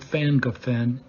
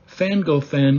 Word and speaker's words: Llangollen: We picked a campground near the town of ffan-goh-ffen in northeast Wales. ffan-goh-ffen is spelled Llangollen. But in the English language, the double L is pronounced like a double F would be in English.